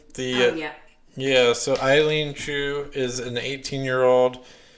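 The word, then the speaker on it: Eileen Gu: um so since that um i think it's eileen chu is that how you say her name the yeah yeah so eileen chu is an 18 year old she is an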